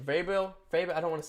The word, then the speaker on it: Vrabel: Vrabel? I don't want to say it wrong. Let me look at it. Mike Vrabel, I believe I was right.